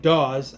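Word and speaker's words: Dawes: Uh Dominic Daw, I pronounced it done in the last one. I was wrong.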